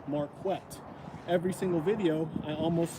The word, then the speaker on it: Marquett: For example, my name is pronounced Marquett.